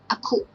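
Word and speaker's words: အခု: So here is first alphabet a, and second one is combination of alphabet ka and u. So we pronounce ku. Altogether, aku. But we don't pronounce aku, we just pronounce aku.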